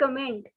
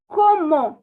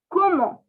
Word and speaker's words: comment: comment it is not comment actually in french it is como como okay it is not comment like in english but it is so